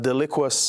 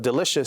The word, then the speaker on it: delicious: Appearance instead of experience, deliquous instead of delicious.